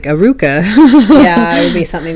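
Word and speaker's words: Alluka: you can't put like, it wouldn't work to be like Aduka with like a D. It would have to be like a flipped R, like Aruka, because they don't say it like Aluka in the Japanese version.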